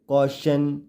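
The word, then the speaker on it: caution: भी देखा था कि जब भी वर्ड के लास्ट में टी आईओ एन होता है तो टी आईओ टी आई ओ एन को शन के रूप में पढ़ा जाता है अब हम देखेंगे कि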